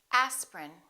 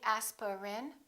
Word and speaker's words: aspirin: and repeat after me aspirin don't say aspirin say aspirin evening evening family family